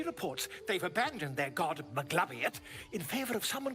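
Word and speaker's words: Maglubiyet: That is absolutely not how you say it. I'm sorry, Maglabiet? No. How are you supposed to say it? I've actually never heard it said out loud. It's Magubliet. No, absolutely not.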